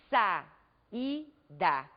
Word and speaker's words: saída: No entanto, ao pronunciarmos a palavra saída, nós podemos observar que as vogais ficam em sílabas separadas. São duas vogais pronunciadas com a mesma intensidade.